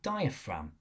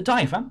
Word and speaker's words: diaphragm: your ribs called the diaphragm. I know it's got a random silent G in it. When I'm in classroom, I usually tend to pronounce it diaphragm, so you remember how to spell it.